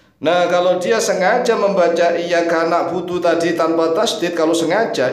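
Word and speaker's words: إِيَّاكَ نَعْبُدُ: Orangnya musyrik, ya musyrik ini orang yang menyekutukan Allah karena Maknanya iyyaka na'budu kalau tanpa tasydid adalah sinar matahari. Kepada sinar matahari kami menyembah, dan kepada sinar matahari kami minta pertolongan.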